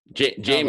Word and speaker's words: Jamin: And how do you say your name? Jamin or somebody? Jamin. Also, right?